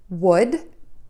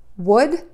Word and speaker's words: would: Let's do the same thing for would. W, short and a D, would. This word is pronounced exactly the same as the word would.